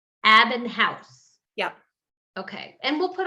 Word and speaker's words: Abbenhaus: we say your last name how do we pronounce what what is your full name uh it's abinh housee abinh housee yep okay and we'll put all of this